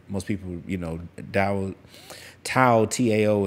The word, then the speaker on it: Tao: And that's most people, you know, Tao, T-A-O is pronounced Tao, D-A-O. I may be wrong about that.